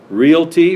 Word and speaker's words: Realty: Realtors and of course it's two syllables not three Realty real property land and